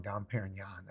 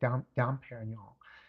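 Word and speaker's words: Dom Pérignon: I already got scolded for saying it wrong. Don Perryan. I've been saying donol. So, I don't know. I'm not French. I don't speak through my my nasal cavity.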